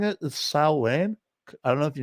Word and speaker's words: Samhain: the S the s s Sam S it's pronounced s uh actually the uh the Celtic way of saying it is s Wayne I don't know if you knew that okay